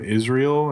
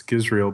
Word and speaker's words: Gizrael: be people would go, "Oh, are you Israel?" And I'm like, "No, it's Gizrael."